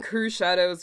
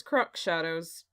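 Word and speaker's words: Crüxshadows: So the name Crew Shadows was a familiar sight to me. The pronunciation was a new experience, however. I always thought it was Crux Shadows. Nope.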